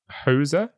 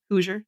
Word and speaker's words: Hoosier: Also, I don't know if is it pronounced Hoser? Hoosier. Because I think Hoosier. Hoosier. Hoosier, yeah. I think I pronounced it correctly then.